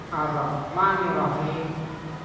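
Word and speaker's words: الرحمن الرحيم: Berhentinya di mana? Belakang gigi nih. Ar-Rahmanir Rahim. Ar-Rahmanir Rahim. Ha. Kan ha. Karena orang baca Ar-Rahmanir Rahim. Nah, Ar-Rahmanir Rahim. Yang benar cara bacanya.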